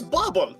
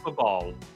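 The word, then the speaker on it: Babahl: It's Bobble! Bobble! I see an H in there that thought it's Babal.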